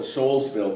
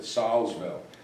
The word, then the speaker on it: Solsville: That's right near, the town is called, I used to call it Soulsville, but they pronounce it Solsville.